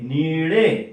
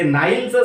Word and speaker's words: Nile: ते नाईलचं स्पेलिंग आहे, नाईल नदीचं NILE, त्याला तुम्ही वाचून राहिले निळे.